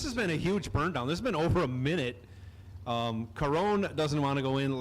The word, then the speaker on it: Caron: Caron Brabham. If I could roll my R, I could say his name properly.